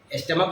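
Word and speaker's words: stomach: नियम का अपवाद है जब सीच का उच्चारण क हो तो केवल एस लगाएंगे जब सीच का उच्चारण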